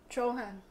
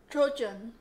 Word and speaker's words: Trojan: USC Trojan. Yeah, you're such a fob. Just pronounce the J as a G, Trojan, and then the A as the I.